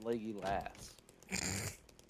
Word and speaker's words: Legolas: Listen, I didn't ask for your opinion, Legolas. No. Do not stain that name. Too late. Besides, you said it wrong. It's Leggy Lass.